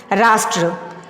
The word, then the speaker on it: राष्ट्र: में किए हैं राष्ट्र, यानी कि ट के बाद र का उच्चारण होता है, इसीलिए ट र संयुक्त यहाँ पे हो जाता है राष्ट्र।